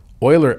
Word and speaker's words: Euler: Euler actually means, it's spelled E-U-L-E-R, but pronounced Euler, like oil.